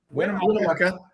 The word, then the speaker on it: Winnemucca: How do you pronounce that town? Winnemucca.